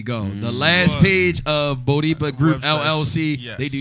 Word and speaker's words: Bodipa: I promise you, within the next 2 months, you will see Bodipa.